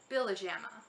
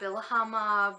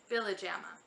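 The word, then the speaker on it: Pihlajamaa: The last name is pronounced Billajama. I know it looks funny, but no, it's not Billahama, Billyahama-nama-na, it's Billajama.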